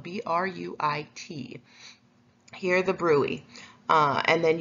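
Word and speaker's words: bruit: So you are going to listen with your stethoscope right over the fistula to hear the brui, which is spelled B-R-U-I-T.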